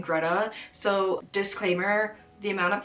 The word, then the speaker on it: Grete: So, Gregor Samsa lives with his mother, his father and his sister Greta, which I was reading as Grete, but I looked up how to pronounce it and it was saying Greta.